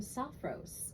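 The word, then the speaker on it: Sophros: I talking about but it's a beautiful name soft Rose s-o-p-h-r-o-s recovery is the name of this facility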